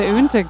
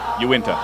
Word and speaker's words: Uinta: The Unta crowd. You tell me how to say it. Uinta. Thank you.